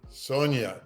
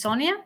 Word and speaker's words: Sonja: Sonja, is that pronounced correctly? That's totally correctly. All right. Sonja.